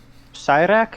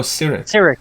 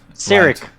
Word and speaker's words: Cyric: Well, do you know who Cyrak is?